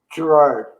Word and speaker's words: Girouard: It's a French name, and the original name was Girouard. Yes. Giroir.